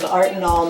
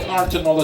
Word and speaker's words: Artenol: I'm not sure what Artenol is about. But since the name of the magazine contains the word art, it has to be about art. That it rhymes with Tylenol is purely coincidental.